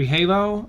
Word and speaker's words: Halo: Oh, wait, it's not for Hollow, it's for Halo.